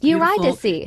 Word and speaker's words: Eurydice: pronounced It's Eurydice.